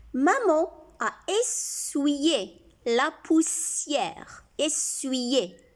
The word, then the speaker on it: essuyer: Essuyer. C'est comme si on a un I ici. Essuyer la poussière. I ici se prononce I.